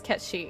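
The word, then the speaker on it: Cait Sith: And people don't even know it's pronounced as Cat Shi. I think it's Kate Sith.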